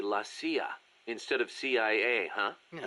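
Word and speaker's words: la CIA: They say Lassia instead of CIA. Huh. Um, nothing strange about it. That's how it's pronounced when you read it in Spanish.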